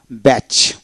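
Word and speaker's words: batch: এখন আসেন ওডের মধ্যে টি সিএইচ থাকলে এক্ষেত্রে টির উচ্চারণ বিশেষ করে হয় না। টি সিএচ এতে চ এর মত উচ্চারিত হয়। লক্ষ্য করুন বি এটি সিচ ব্যাচ ব্যাচ বিটি সিএস ব্যাচ।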